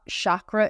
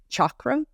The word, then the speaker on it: chakra: even if we don't and and it's not chakra it's chakra yeah you it is CH a harder CH